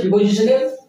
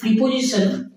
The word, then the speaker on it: preposition: আচ্ছা তাহলে আজকে আমাদের প্রিপজিশনের ক্লাস থ্রি অর্থাৎ ডে থ্রি হ্যাঁ আমরা এর